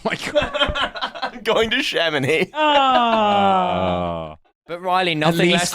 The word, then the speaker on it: Chamonix: it's skis, the actually blades really or the- pronounced Chamonix and you're Miley- correcting everyone else.